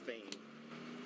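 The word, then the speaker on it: Phayme: Last name is spelled P H A Y M E pronounced fame.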